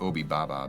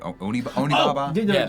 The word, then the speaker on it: Onibaba: up the pronunciation, but not Obi Baba, but Onibaba.